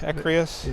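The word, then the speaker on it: Écréhous: So, how do you pronounce the name of those islands? Ecrius. Ecrius.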